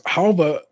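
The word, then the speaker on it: halwa: Halva, though pronounced with that V, is spelled with a W. H-A-L-W-A. Halva surprise loaf cake with a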